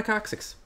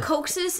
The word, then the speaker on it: coccyx: The coccyx is basically your tailbone. Yeah. You pronounced it wrong, by the way. It's coccyx? It's coccyx.